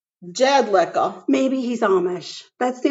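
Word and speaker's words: Jedlicka: seth jedlika yes yes his last name is jed liquor not earth wait not liquor seth jed lika i don't think they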